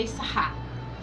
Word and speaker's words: Issachar: O irmão é Zebulun, que é Zebulon conhecido, e o Issacar, que no hebraico a pronúncia é Issachar.